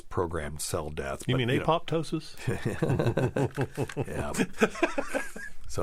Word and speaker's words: apoptosis: cell death you mean apoptosis yeah so it's just for people out there it spelled Apo p t o s i s but it's apotosis when the p is silent no it's it's all